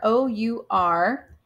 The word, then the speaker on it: our: Let's get rid of this box. So our, O-U-R, can sometimes be pronounced as R. I have kind of trained myself to say that ow sound that OU makes, our, because it makes it